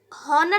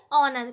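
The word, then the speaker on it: honor: ऐसे यहाँ पर देखिए, यहाँ पर आप हॉनर तो पढ़ेंगे नहीं, इसको क्या पढ़ेंगे, ऑनर, क्या पढ़ेंगे, ऑनर, क्योंकि एच यहाँ पर भी क्या है साइलेंट।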